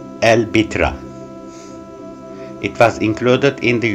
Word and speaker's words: البتراء: word and means big rock in arabic it pronounced el bitra it was included in the unesco world heritage list in 1985.